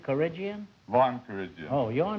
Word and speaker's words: Vahan: pronounced Von in Armenian, but it's Von in English. Oh.